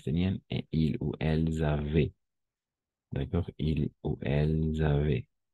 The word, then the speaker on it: avaient: ENT, muet, es mudo, ENT. Siempre va a ser así. Siempre que sea un verbo, d'accord? Toujours. Toujours avait, n'est-ce pas? Oui, avait. ENT, on ne prononce pas.